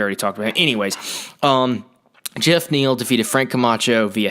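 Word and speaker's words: Geoff: anyways before that uh Jeff Neil it's spelled G off but I heard it's Jeff he's a dude from Texas so I guess it's just Jeff he might be from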